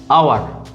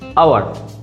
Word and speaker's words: hour: এরকম আরেকটা ওয়ার্ড হচ্ছে আওয়ার, HOUR, আওয়ার। এটা মানে হচ্ছে ঘন্টা, 1 আওয়ার 2 আওয়ার মানে 1 ঘন্টা 2 ঘন্টা সময়ের ক্ষেত্রে। এটার আগেও বসে অ্যান, কারণ এর উচ্চারণটা আসছে আ।